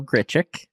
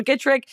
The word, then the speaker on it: Grichuk: thank you say his name for me Randall grichuk grichuk oh okay they acquired Lucas CJ Cron they have my acquired Randall gitrick you get trick what that's a totally different